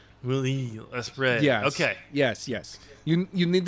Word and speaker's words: Will Ospreay: the IWGP United States Heavyweight Championship, you got Will Ospreay versus Orange Cassidy. Yeah, you pretty much have it. Yeah, it's almost there. I would have gone with Wheel Ospreay. Will Ospreay.